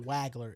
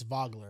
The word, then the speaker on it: Wagler: Key and Wagler's another one is Vogler. Key and Vogler. It's not Wagler, it's Vogler.